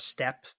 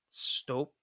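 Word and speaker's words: Støp: It's spelt stop, but with like a line through the O Yeah, I couldn't tell you. because that's I think it's pronounced step. It's like a long, gross sounding O, like a step, like a strope. It's like the Oleg, so stope.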